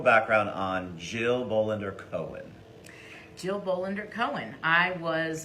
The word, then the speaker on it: Jill Bolander Cohen: Jill Bolander Cohen.